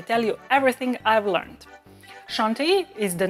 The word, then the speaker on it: Chantilly: I'm and today I'm making crème chantilly. Chantilly. Try to pronounce it with that French nasal sound.